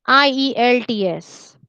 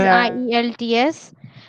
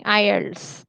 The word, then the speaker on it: IELTS: बोलो Ideally, it is IELTS.